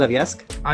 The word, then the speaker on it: Yovska: I'm so sad that YOVSKA, is that how I pronounce it? YOVSKA?